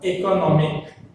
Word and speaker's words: economic: If we add suffix to it, then stress shifted to no. So economic, no is the stress syllable, right?